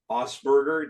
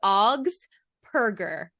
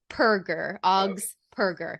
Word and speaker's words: Augspurger: no my name right it's augs perger Oz perger yeah right it's all